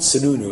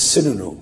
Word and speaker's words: Sununu: town anyway it's not Sununu it's synonym is the Palestinian pronunciation I grew up with